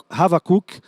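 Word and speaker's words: חבקוק: O nome no hebraico, a pronúncia é Havakuk.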